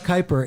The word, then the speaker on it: Keiper: no it says chuck keiper and then parentheses pronounced like viper uh look at this